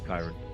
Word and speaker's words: Kyron: I got you, Kyron. I got you. Seeing as his nickname is Kai, the I is not silent.